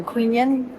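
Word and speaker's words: Quy Nhơn: Q U Y N H O H or N. U N H A Queen. It's like queen. Okay, we're going to queen yen, which translate to noble person in English.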